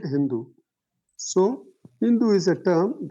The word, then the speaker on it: Hindu: The Mohammedans pronounced SHH. Pronounced SHH. Instead of Sindhu, they made it Hindu.